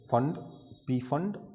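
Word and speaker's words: Pfund: अगर n is equal to 5 तक आ रहे हैं तो Lyman बामर Paschen bracket फंड P silent है, फंड सीरीज, और 6 के लिए हो जाएगा तो हमफ्री।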